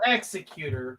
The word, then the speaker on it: Executor: The Executor class is spelled Executor, but they call it the Executor.